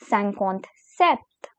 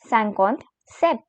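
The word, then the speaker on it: cinquante-sept: as sancon sees now comes 57 which is pronounced as sankhonth sept sankot said and here we have 58 which is called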